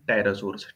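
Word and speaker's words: pterosaurs: Many others animals also died out, कई दूसरे animals भी मर गए, इंक्लूडिंग टायरासोर्स। ठीक है, जिसमें कि कौन आते हैं? टायरासोर्स, ये पी पी साइलेंट रहेगा।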